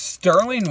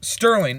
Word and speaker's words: Stührling: uh overall out of 10 I give this Sterling watch like dude a 9.5 for 39 this